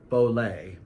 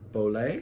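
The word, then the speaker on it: Beaulieu: i by bradley P but bowl a bowl a is how you say Bradley I'm sorry mister pronounced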